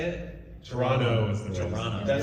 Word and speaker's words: Toronto: Toronto.